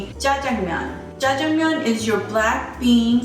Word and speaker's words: Jjajangmyeon: It's Jjajangmyeon. Ja, J-A, Jang, J-A-N-G, Myeon, M-Y-E-O-N. Jjajangmyeon. Jjajangmyeon.